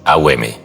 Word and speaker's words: Om: No se pronuncia como un simple bom, sino como una sílaba que contiene 3 sonidos, AUM, cada uno vibrando en una región del cuerpo.